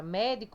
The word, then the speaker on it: médico: Quando eu separo a palavra médico, vai ficar como médico, né? Então, ó, a palavra mais forte é mé, certo? Então, isso aqui é a sílaba tônica da palavra médico, é mé.